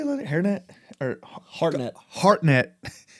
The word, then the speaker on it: Hartnett: Hairnet or Hartnett.